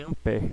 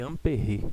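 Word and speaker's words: Ampère: essa essa grandeza lá não é chamado de em pé como aqui nós chamamos só chamado de ampére tá tem uma a mudança aí na pronúncia bom o fato aqui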